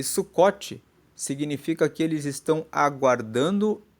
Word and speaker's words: Sucot: essa festa também é chamada de festa do sucote se escreve suu c o t e sucot é